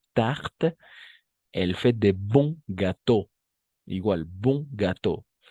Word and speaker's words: gâteau: Elle fait de bons gâteaux, igual, bon gâteau. Las S al final no se pronuncian ni menos la E, ¿d'accord? Son mudas, incluso la X, ¿no? Todo esto, por ejemplo, va a ser gâteau, ¿d'accord?